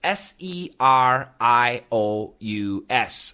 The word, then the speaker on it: serious: S E R I O U S. Three syllables. Serious. Serious. The tongue touches nothing.